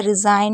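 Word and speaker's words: resign: आपको पता होना चाहिए जीएन को ना पढ़ते जैसे रिजाइन में आप देख रहे हैं और जी एन से पहले अगर आई होता है तो आई को आई पढ़ते हैं तो थोड़ा सा वाला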